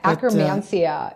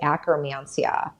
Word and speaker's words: Akkermansia: I will find it difficult to pronounce it. Yeah, akromansia. Yeah, it's a tricky one. And that's spelled just AKKERMANSIA, akromansia.